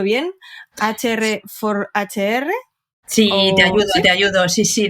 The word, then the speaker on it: HR4HR: Además es fundadora de, corrígeme si lo pronuncio bien, HR4HR. Sí, te ayudo. Sí, de HR for HR, así como en inglés, muy moderno.